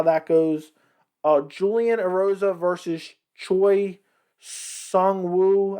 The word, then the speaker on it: Choi Seung-woo: Julian Erosa versus Choi Seung-Woo, I think is how you pronounce it.